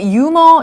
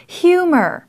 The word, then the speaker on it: humor: 한국말로는 한국 사람들은 주로 유머 이렇게 얘기를 합니다. 하지만 H 발음이 들려야 해요. 영어로는 humor. humor. 유머라 그러면 영어 하는 사람들이 이해를 못할 경우가 많을 겁니다. 그래서 humor가 아니라 humor.